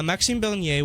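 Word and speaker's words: Maxime Bernier: recap of the week uh we'll begin with maxim bernier at uh ryerson uh pronunciation thank you well i do speak french so uh maxine bernier was at ryerson and um also yeah maxine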